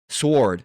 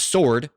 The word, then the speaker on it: sword: Originally pronounced the way it's spelled, sword. Sword, not sword, sword.